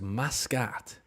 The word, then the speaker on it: Muscat: Pronounced Muscat.